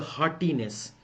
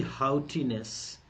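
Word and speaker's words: haughtiness: अब कुछ लोग बी ऑप्शन को पढ़ेंगे, हार्टीनेस। मेरे मुन्ना, मेरे चिन्नू मुन्नू, ये हार्टीनेस नहीं है, प्रोनाउंसिएशन बिल्कुल मैटर करता है अंग्रेजी में, ठीक है। तो मेलाइस का एंटोनिम बताने हैं ट्रिमर, हाउटी, क्या पढ़ोगे? हाउटीनेस, टॉर्जन, काइंडनेस।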